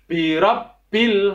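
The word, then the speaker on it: بِرَبِّ: untuk a'udzu birabbil Falaq birobbil ada tasydid pada huruf ba maka cara membacanya juga sama seperti pembelajaran secara membaca surat an-nas itu Ditekan cara membacanya jadi setiap huruf tasydid di dalam Alquran maka cara membaca huruf nya adalah ditekan maka full a'udzu birabbil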